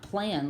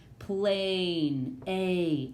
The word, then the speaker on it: plain: So this isn't the word plan. It's not plan like it would be in a closed syllable. It's plain. A. That A is free to say its name.